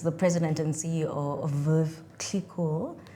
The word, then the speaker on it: Veuve Clicquot: Uh, this is the president and CEO of Veuve Clicquot. No, I'm not being pretentious, that's how it's pronounced.